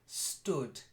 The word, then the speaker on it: stood: end and then stood it's an o sound not room stood but he had fled